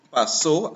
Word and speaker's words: pasó: So sobre una tormenta que pasó, accent on the O, por mi país.